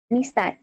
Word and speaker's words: নিস্তার: খেয়াল করলে দেখতে পাবো যে দন্ত নরসিকার পরে যুক্ত অক্ষর মূর্ধন্য শয় তটা, দন্ত শয় তটা দন্ত স থাকার কারণে আমরা এর উচ্চারণটা বা ধ্বনিটা উচ্চারণ করব বিসর্গের মতো। যেমন নিস্তার, নিস্তার, নিস্তার।